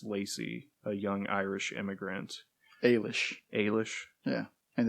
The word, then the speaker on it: Eilis: story under oh yeah of sarsa Rowan's character Ellis Lacey a young Irish immigrant Ailish Ailish yeah and it's Saoirse so you're gonna